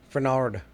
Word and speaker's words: Fernald: Okay, so I'm going to be talking about the Fernald. How do you say it again? I'm going to see it. Fernard.